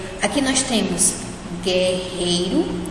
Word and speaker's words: guerreiro: Nessa palavra guerreiro, nós não falamos guerreiro, né? De novo, a gente não pronuncia o U, é como se não existisse.